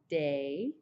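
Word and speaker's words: des: to change a bit it's going to be day day so even though there's a s there you don't say it you just pronounce it as day and so I'm just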